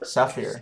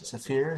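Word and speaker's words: Zafir: for the op Force side it's called the sapphir how you pronounce your Safir how is it pronounced Safir not g is Safir Safir okay well Machine Gun and yeah really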